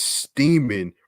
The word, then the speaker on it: Steeman: to identify the suspect thomas steeman rhymes with seaman was identified by tips